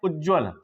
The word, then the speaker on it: उज्ज्वल: तो ये गलत है आपका, सही क्या है, उज्ज्वल, उज्ज्वल। तो यहां पर दो जा हैं जिनका प्रोनाउंसिएशन अगर सही हम कर पाएंगे तभी हम इसको सही लिख भी पाएंगे।